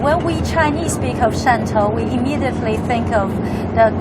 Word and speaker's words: Shantou: is this particular place that we're going to, Shantou, I keep pronouncing it wrong. Shantou.